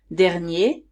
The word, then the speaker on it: dernier: Here, the pronunciation is different because I now pronounce the R in the singular masculine form. So here we say dernier, dernière.